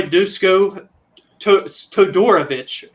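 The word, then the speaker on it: Duško Todorović: of the evening noah our boy dousco todorovich is how they say his name we finally learned how to say it properly uh made his third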